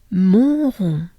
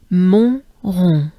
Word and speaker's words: Montrond: Montrond. So it's twice the sound on, right? That funny sound on.